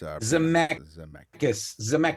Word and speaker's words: Zemeckis: I think it's Robert Zemeckis, I think is how it's Zemeckis. That's it. That's right. Here's how this is pronounced.